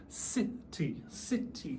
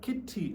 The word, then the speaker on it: city: And the teacher would say very slowly, city, city, two syllables. Even though it's a C, it's not kitty any uh it would say city as in S sound, S sound.